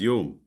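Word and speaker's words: יום: It's the Hebrew word pronunciation of it is yum like the Arabic.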